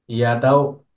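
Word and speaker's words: ي: হামজা ইয়াটাও জিহ্বার মধ্যখান, তার বরাবর উপরে তালুর সঙ্গে লাগিয়ে, ইয়ার মতো করে, ওই যে জিম শিন ইয়া একই জায়গাতে উচ্চারণ হয়।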